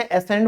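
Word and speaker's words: ascend: उतरना, कहीं से उतरते हो, अब चढ़ते हो उसे एसेंड बोलते हैं। ठीक है, उसमें भी सी साइलेंट है।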